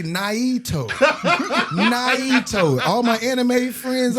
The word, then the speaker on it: NIITO: We'll get on stage and pronounce it and spell it out. I'll say Naito.